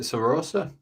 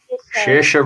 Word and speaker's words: Saoirse: Is it Sarosa? Sarosa Ronan. Sarosa Ronan. Shira. Saoirse Ronan. Come on, Connor.